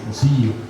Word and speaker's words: cosijo: la lluvia, el zapoteco, registrado desde el siglo XVI por Juan de Córdoba como cosijo, pronunciado de manera más fiel como cosillo, con una I larga.